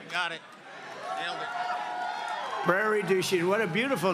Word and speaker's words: Prairie du Chien: get worse actually so we're here today in Prairie duen is that a good yeah yeah good pronunciation you could have given me a little